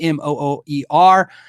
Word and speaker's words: MOOER: MOOER uh MOOER is the company m o o e r, pronounced MOOER uh like moo r.